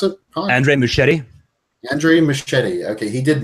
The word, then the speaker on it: Muschietti: Can you pronounce it? Andre Muschietti.